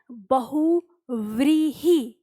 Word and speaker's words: बहुव्रीहि: शब्द होता है बहुव्रीहि तो बहुव्रीहि वी का उच्चारण है तो ये वी यहां पर नहीं है यहां पर वह नहीं है यहां पर वह नहीं है हमें मिल गया बहुव्रीहि यही हमारा क्या है सही उच्चारण है और सही इसकी वर्तनी